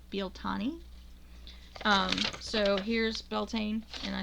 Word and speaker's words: Bealtaine: in is actually an Irish speaker, and corrected pronunciation of this today. This is Bealtaine. Americans who ruin everything by saying it wrong call it Beltane. It's not Beltane, it's Bealtaine.